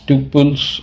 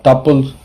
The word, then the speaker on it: tuple: You can either pronounce it as tuples or tuples, whichever is comfortable for you all.